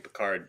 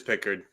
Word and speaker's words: Pickard: I don't know why I keep saying Peard.